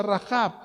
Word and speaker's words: Rahab: todos Asimismo también rahab rahab se pronuncia rahab se acuerdan de aquella